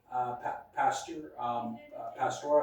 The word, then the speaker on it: Pasteur: Pasteur, I believe is how you pronounce it.